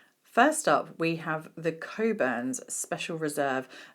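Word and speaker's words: Cockburn's: up we have the coburns Special Reserve no it's not pronounced as it might be spelled um this is an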